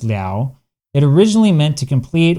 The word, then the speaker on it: 了: Okay, so this character la was almost certainly originally pronounced lao.